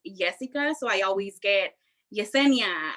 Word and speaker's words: Yesica: with my name because it's not jessica it's jessica so i always get